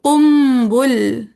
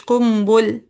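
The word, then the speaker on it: قنبل: अब इनके दो शागिर्द हैं बज्जी, ठीक है, बाकी जबर के साथ है बज्जी, और कुम्बुल, ठीक है, काफ पे भी पेश और बा पे भी पेश, कुम्बुल।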